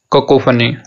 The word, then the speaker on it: cacophony: तो जो सही तरीका है इस वर्ड को बोलने का वो है ककोफनी, ककोफनी।